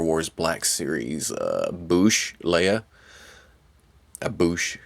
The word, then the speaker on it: Boushh: Boushh is how I've always pronounced it. I guess there's some controversy. It's Boushh or Boushh. I go with Boushh.